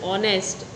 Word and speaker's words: honest: Further, the honest and honorable, it is not sounded.